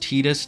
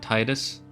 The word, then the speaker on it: Titus: According to Kingdom Hearts 1, his name is pronounced Titus, not Titus.